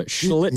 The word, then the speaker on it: Schlittler: So, the Yankees pitched well, but, Schlittler or whatever the hell his name is. You got it right. Be careful. Pronounce the L. Slow. Cam Schlittler.